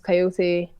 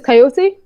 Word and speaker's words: Kaiyote: Hiatus Coyote, they're an Australian band. Okay, how do you spell that? Hiatus Kaiyote, like the animal. Okay. Well, you don't spell it the same way.